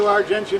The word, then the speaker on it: Argentia: Argencia, Newfoundland, is spelled just like Argentina. It's not, it's just it looks like it. So anyway, because of John Aldridge, I went to Argentia, Newfoundland, and I met this lovely lady.